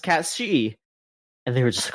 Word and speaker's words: Cait Sith: and it just says, in Final Fantasy VII Rebirth, it is pronounced Kate Sith. Sith. Is this a problem in Japan? No, because in Japan, on the official website, it says that it is pronounced Katshi.